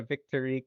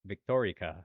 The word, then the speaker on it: Victorique: So I will point out one thing, and you can call her Victorique if you want. I think Cujo in the anime was pronouncing it Victorica, almost like Victoria.